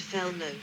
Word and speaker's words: felloes: First constructing the hub, called the nave, the spokes and the rim segments called felloes, pronounced fellow, 2, and assembling them all into a unit working from the center of the wheel outwards.